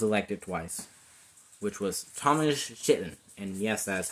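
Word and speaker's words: Chittenden: and one was elected twice which was thomas chitten and yes that's how you say its name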